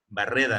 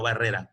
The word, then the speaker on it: Barreda: Barreda, no Barrera, Barreda.